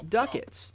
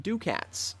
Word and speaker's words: ducats: now I know and it's pronounced Duckett's not ducats so if you are